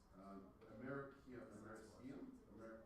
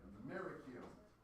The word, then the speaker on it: Americium: Americium. It just seems wrong. Americium. Americium. What is it? Americium. That sounds better. You gotta put the stress on where the Americans put the stress.